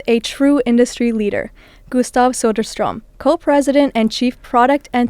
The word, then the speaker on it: Söderström: Today we're going to dive deep into the future of AI and audio with a true industry leader, Gustav Sodarstrom, co-president and chief product and technology officer at Spotify.